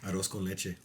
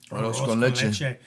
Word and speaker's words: Arroz con leche: Pronounce it correctly. Arroz con leche. Arroz con leche.